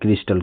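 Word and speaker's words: crystal: फिर CRYSTL इसको पढ़ते हैं क्रिस्टल, क्रिस्टल का मतलब होता है रवा। कहने का मतलब इस कॉलम में वाई जहाँ भी आया है उसका उच्चारण जो आया है ई की मात्रा आया है बस।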